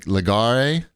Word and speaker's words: Legarie: ordered destin's cookies uh i think you say his name like like legare he's french how do you say